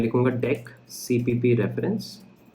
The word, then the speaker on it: deque: इसको double ended क्यू को हम लोग डेक कहते हैं, कई लोग डी क्यू बोलने लगते हैं। डी क्यू की स्पेलिंग बिल्कुल अलग अलग होती है, इट्स अ डेक, ठीक है।